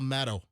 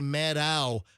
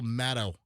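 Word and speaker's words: Maddow: I didn't know that I mispronounced it. You did. It's Rachel. It's Rachel Maddo. Maddo. A lot of people say Matto. I believe it's just Rachel Maddo.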